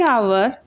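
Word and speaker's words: hour: The word आवर and honest begins with the letter H what the एच is silent.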